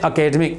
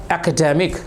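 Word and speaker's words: academic: एकेडमिक qualification, मेरी जो इसको अकेडमिक ना बोले, इस वर्ड को अधिकतर लोग क्या बोलते हैं? अकेडमिक। इस वर्ड का सही प्रोनाउंसिएशन है एकेडमिक, शैक्षणिक, ठीक है।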